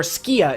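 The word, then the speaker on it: Sukiya: rice and meat or skia is the main one they call it sukhiya is how it's spelled but skia Sookie this Sookie this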